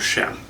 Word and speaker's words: Cheam: larger canvas with it and that's uh Mount sham um it's near Chilliwack British Columbia Canada it is spelled c-h-e-a-m uh there are many views many